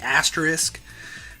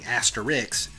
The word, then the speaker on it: asterisk: The asterisk, pronounced like it's spelled, despite the fact that all of my coworkers are hell-bent on it being asterix.